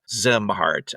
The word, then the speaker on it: Szimhart: His last name is spelled SZIMHART. SZ. So it's a Zemhart.